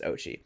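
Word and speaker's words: Oatchi: line is I apologize I was just saying this dog's name wrong for the past three episodes it's fine moving forward it's Ochi good boy Ochi he's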